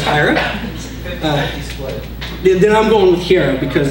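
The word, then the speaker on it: Hiera: we reviews puppet higher which I've been pronouncing hira up until I heard this one ring that was higher then I'm going here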